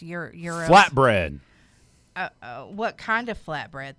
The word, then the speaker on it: gyros: I think you said it's pronounced euros.